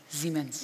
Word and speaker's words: Siemens: of understanding with the German company, is it pronounced Siemens or Siemens? Siemens.